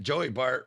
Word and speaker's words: Joey Bart: foreign all right Joey Bart rhymes with joy fart banned from my child's